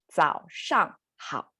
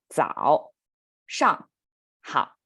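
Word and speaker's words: 早上好: It's 早上好. So a little bit difficult to pronounce because we have 2 third tones in there. 早上好.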